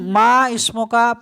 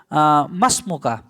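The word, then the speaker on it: ما اسمك: আছে দেখেন এটা কিন্তু মা ইসমুকা পড়লে ভুল হয়ে যায় এটা আলিফ যদি কেটে দেন তাহলে উচ্চারণটা হবে মাসমুকা তোমার নাম কি মাসমুকা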